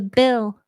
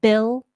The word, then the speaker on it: bill: to note here is the dark hell in bill bill bill you don't want it to be light like Bill Bill if um if L isn't in your native language um you're likely to do a light L like that but we want more of the tongue up for a dark L just relax it